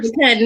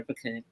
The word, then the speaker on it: pecan: Butter pecan. Nobody feeds their child butter pecan. But who says pecan? That's how you say it in the South. You say pecan in Texas.